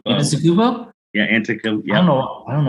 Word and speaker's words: Antetokounmpo: Giannis Antetokounmpo. Antetokounmpo?